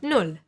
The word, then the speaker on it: Null: A double consonant, like here, the double L, will mean that the word will get pronounced a little bit faster. Like here in Null, for example, or der Ball, or Essen. And watch the U. It will always be pronounced like U, like in put or boot.